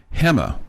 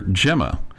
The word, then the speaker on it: Gemma: In Spanish that would be pronounced hemma. Okay. But because Americans don't, you know, don't always know how to say it properly, um they they would call her Gemma. Well, Gemma in Spanish means egg roll.